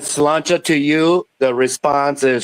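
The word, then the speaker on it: Sláinte: Slancha. Yeah, Slancha. Gaelic. Slancha is Gaelic. Yeah, Gaelic is Irish too. Yeah. That's basically Irish. Somebody says slancha to you, the response is slancha vat.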